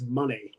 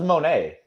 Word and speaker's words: Moné: how you doing Dwayne it's pronounced Mercedes money whatever I thought it was Monet no it's money because it's Sasha Banks so money Bank soon also I